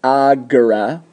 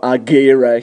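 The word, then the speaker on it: agere: So instead of respondere, it's pronounced agora. No agera here, it's agora.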